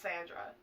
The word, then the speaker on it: Xandra: It's like X-Andra, but it's pronounced Sandra.